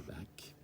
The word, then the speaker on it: Bach: Aujourd'hui, au programme, c'est une cantate de Bach.